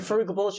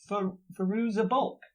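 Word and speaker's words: Fairuza Balk: David Wait, so Faruga Bulch is in there? I don't know. Faruza Bulk.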